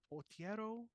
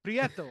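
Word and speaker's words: Prieto: film uh shout out to director photography Rodrigo portio believe that's how you pronounced that I'm trying I'm trying ladies and gentlemen that's all I gotta say prietto I'm sorry prietto um I thought as far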